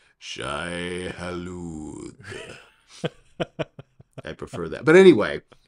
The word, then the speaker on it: Shai-Hulud: Anyway, except for Shai-Hulud, which I prefer to pronounce like the guy in the 84 movie. Shai-Hulud.